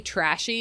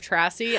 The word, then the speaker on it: Trassy: off she did and if you get the name wrong or call me trashy instead of trassy I'm definitely going to